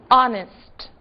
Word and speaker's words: honest: ser observadas porque justamente são casos em que o H está ali, mas não é dito. Que palavras são essas? O, honor e honest. Não disse o H em nenhuma delas, certo?